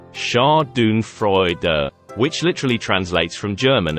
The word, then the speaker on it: Schadenfreude: does Chardon freuda mean Chardon freuder is pronounced as Shah Doon Freud which literally translates from